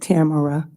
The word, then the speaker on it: Tamara: It's actually pronounced Tamara.